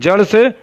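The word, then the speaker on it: ثاء: दांतों के अंदरूनी किनारे से अदा होता है। सा में ज़बान का सीरा और ऊपर के दांतों के अंदरूनी किनारे से सा अदा होता है।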